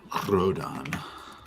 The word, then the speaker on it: Rodan: have to roll that R. I need at least a 3-second roll, or it's not my real name.